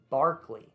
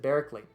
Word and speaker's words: Berkeley: i pronounced that name his name is actually barkley now why did i pronounce it barrically because i really want